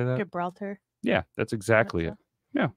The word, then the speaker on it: Gibraltar: town city whatever I'm not even trying to pronounce that one do you know how to say that Gibraltar yeah that's exactly it yeah nailed it and